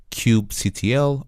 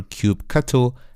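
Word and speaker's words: kubectl: is by using this command line application called Cube CTL or cube cutle as many people pronounce and basically with Cube cutle or cube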